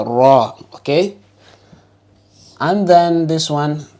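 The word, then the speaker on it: ر: of the tongue letters and then raw I will say a part time full mouth letter raw okay and then this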